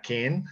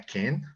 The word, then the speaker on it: can: Luego va la palabra can. Se pronuncia can, como si fuera a llevar una ligera E.